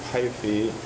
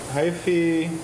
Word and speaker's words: hyphae: So I will show you a picture of hyphae. Hyphae, or hyphae, people pronounce it however they want, are the individual strands of the individual strands that make up the mycelium.